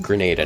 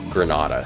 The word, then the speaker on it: Grenada: in grenada and yes it's pronounced grenada not granada some people say granada uh it's like tomato